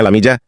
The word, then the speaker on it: Lamia: Namanya Lamia, yang di Indonesia dibacanya Lamija.